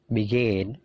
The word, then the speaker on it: begin: Begin. Jadi perhatikan stressingnya. Stressingnya punyanya come, punyanya gain, punyanya leave. Jadi stressingnya itu di suara yang kedua.